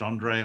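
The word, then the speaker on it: Handré: help us andre pollard spelt with an h but pronounced andre andre pollard is the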